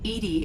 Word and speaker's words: EDI: Edy is the phonetic pronunciation of EDI.